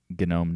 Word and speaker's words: GNOME: so I don't think gnome is a very good thing for new users I mean I'm sorry I pronounced it wrong genome no I don't think